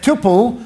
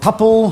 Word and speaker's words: tuple: the data set is a tuple or topple whatever you pronounce it so tple of three